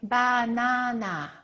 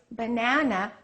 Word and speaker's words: banana: pronounce every vowel equally they will say bana we have three a a a Three A's in English we don't keep everything the same length we stress one and we reduce the rest in this case banana the second syllable is stressed so we would say it like this B so it's uh a banana the spelling stays the